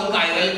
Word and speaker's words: chiral: कायरल क्या होता है, कायरलिटी क्या होता है? बहुत सारे लोग इसको चिराल करके भी प्रोनाउंस करते हैं, तो उसमें टेंशन मत लेना।